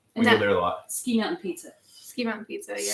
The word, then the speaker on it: Ski Mountain: Ski Mountain Pizza. Ski Mountain Pizza, yeah. Sicky Mountain Pizza. That's how they pronounce it.